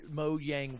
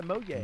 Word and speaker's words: Mojang: Tina, I was Minecraft before you even knew what Mojang was. Okay, oh, Tina. That's how you pronounce it. It's Swedish, yeah, Mojang. Mojang, yeah.